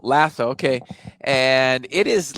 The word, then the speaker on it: LASO: wrong and is it right yeah iso 1s lasso lasso okay and it is like the amazon of